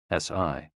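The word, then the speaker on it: 呬: shh, with a deep sigh, which is associated with the liver. HE, pronounced like her, with a yawn, which is associated with the heart. SI, pronounced like sir, with a slow exhale, which is associated with the lungs.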